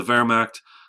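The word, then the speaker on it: Wehrmacht: coming up though the Vera this is another German word in German you pronounce W's like V's because they're uh that's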